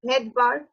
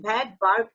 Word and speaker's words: Svedberg: 70s means Vedberg unit, পাশে কিন্তু স্পেলিংটা লেখা আছে Vedberg, Vedberg unit, SVEDBERG, Vedberg unit, S এর উচ্চারণ প্রনাউন্সিয়েশন হবে না, Vedberg unit.